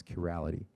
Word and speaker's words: chirality: properly and this is known as curality or chirality I don't know how you pronounce that on honestly so is it chirali yeah I said it right the first time so in 1974 a